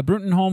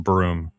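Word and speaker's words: Bruttenholm: uh let's see uh brenton holm was supposed to kill hellboy when he became human um remember it's uh pronounced broom i don't care um i'm trying to save you a couple syllables trevor was meant to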